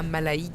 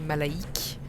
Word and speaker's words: Mallaig: Ok, là on est dans le train pour aller à Malaïc, qui ne se prononce pas Malaïg, mais Malaïc. Ce matin on est arrivé à Balok, qui ne se prononce...